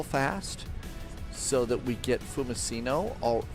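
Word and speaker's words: Fiumicino: Let's go ahead and jump off and jump in real fast so that we get fumicino or fumachino. It's a hard C, not a soft C. So, it's fumccino and main menu and main menu.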